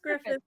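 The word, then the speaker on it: Gruffudd: It's just Griffith. Griffith. It's just Griffith. Oh, it's their funky way of spelling. Griffith. It's just their funky. It's spelled Gruffud. It's the Welsh.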